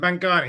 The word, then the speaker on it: Mantgani: right Ian you got there in the end manang yeah that's it yeah perfect that I always worry I've heard much worse pronunciations than that oh that's that makes me